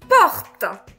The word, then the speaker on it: porte: Alors te à la fin, le e à la fin ne se prononce pas. Porte. Porte.